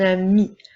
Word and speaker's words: amie: avons ici une amie nous voyons bien qu'il y a la lettre E j'ai ajouté cependant une petite ligne comme sa pointillée pour te rappeler qu'il ne faut pas la prononcer alors nous ne verrons pas amis eux mais bien ami nous avons deux mots